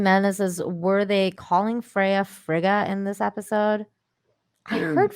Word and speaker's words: Frigga: because isn't that her name is frail but i heard fraga too so i don't know uh oh frigga is her name okay uh frigga is